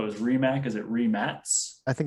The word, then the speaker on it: Rimac: i thought it was re mac is it re max i think it's rimek remax it's another rematch so we've all called it rimac forever right because it's the way it looks